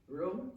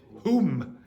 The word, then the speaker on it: room: How did you pronounce it? Room. No, you pronounced it whom.